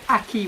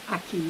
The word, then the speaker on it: akee: It's called an Akee once more, for those of you who didn't get it. It's called an Akee.